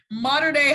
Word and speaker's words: Mater Dei: spencer shannon he just taught me how to pronounce his high school modern day high i said it right yeah yes ma'am